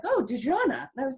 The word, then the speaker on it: Dexonna: No, I think I had one person pronounce it correctly, and that was because she was actually French.